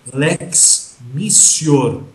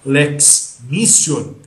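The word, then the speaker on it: Lex mitior: Quando houver a chamada Lex missor com P se escreve mitior mas você vai pronunciar Lex missor que que significa Lex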